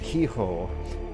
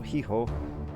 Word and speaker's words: hijo: Don't pronounce the H. H is silent. Okay, mejor, no, hijo. How in the world is the H silent in hijo?